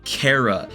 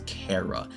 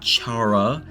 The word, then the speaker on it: Chara: Fox literally said it it's short for character so it's Cara it's not Chara I know a lot of people say charara if you say Chara